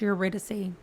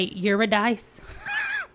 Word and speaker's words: Eurydice: of eurydice and Orpheus do you think that's pronounced eurydice because you know my Arkansas brain again wants to say you're a dice but I'm pretty sure that is not the great pronunciation of this word anyway fans of Becky